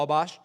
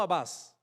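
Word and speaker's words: Atbash: Además, fueron capaces de crear una ley de interpretación conocida como Abash, no Abbas, Abash.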